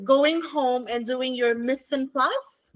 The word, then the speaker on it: mise en place: your ingredients to going home and doing your mise en place. How do you spell that? M I S E E N P L A C E.